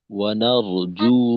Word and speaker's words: ونرجو: তো এখানে ওয়ানারজু রাহমাতাকা, ওয়ানারজু, একটা হলো জিমের উচ্চারণটা যা জি জু যেন জু না হয়, আর ওইখানে একটু টান হবে।